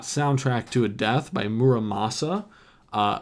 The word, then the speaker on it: Muramasa: death by muramasa uh which I finally pronounced correctly because it's always been stuck in my head as monam Musa and I just couldn't seem to get it right when I said it out loud um I was not